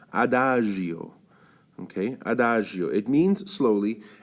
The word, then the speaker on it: Adagio: okay try saying after it's got very soft G here Adagio okay Adagio it means